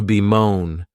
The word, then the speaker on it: bemoan: The next verb is to be moan. And this verb has two syllables and the stress is on that second syllable.